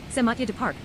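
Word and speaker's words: Saint-Mathieu-du-Parc: Matthew du Parc, French pronunciation, Saint Mathieu du Parc, is a municipality in the Morrissey region of the province of Quebec in Canada.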